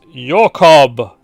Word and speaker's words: Jacob: dolph grimm i believe jacobs pronounce your cob okay so more of a european pronunciation yes so if you